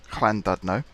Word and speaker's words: Llandudno: friend of mine, who is Welsh, how to pronounce Llandudno, and basically got signed off that, yep, I'm